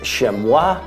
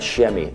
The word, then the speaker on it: chamois: I'm curious, are you coming to the mountains to hunt the chamois with me? It is pronounced chamois and not chamois.